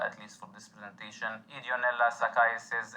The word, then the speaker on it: Ideonella sakaiensis: least for this presentation, Ideonella sakaiensis, and yes, the N is silent.